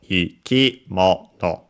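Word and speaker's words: 生き物: The accent is on mo, the mono, when in this compound. So ikimono. Ikimono.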